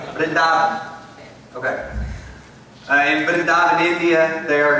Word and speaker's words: Vrindavan: Vrindavan.